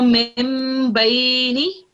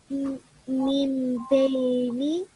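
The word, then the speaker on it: مِنْ بَيْنِ: memes, a small meme, you will pronounce the meme instead of the noon. Yeah. So mim bayni. Min bayni.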